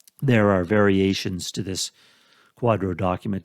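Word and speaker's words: QDRO: order the initials are QD o and it's pronounced Quadro the quadro is an order signed by the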